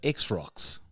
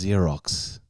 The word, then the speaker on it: Xerox: her name wrong no i said what is x rocks and it was xerox but my mind as soon as i said x rocks i knew it was zero it was xerox like and it was